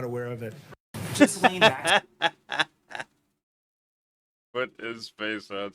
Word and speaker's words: Ghislaine: Ghislaine. Ghislaine. It's Ghislaine or Ghislaine. Like the S might be silent.